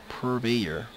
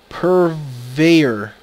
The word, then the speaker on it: purveyor: it maybe pervade uh purvier I think I'm saying it wrong actually let's see you go to Google purveyor purveyor okay that's how you pronounce it someone who sells or